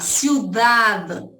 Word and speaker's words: ciudad: Vamos lá, ciudad termina com D mudo. Aí eu quero chamar, gente, aqui, ó, ciudad.